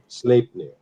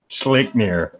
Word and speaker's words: Sleipnir: However you pronounce that name. Sleipnir. Sleipnir.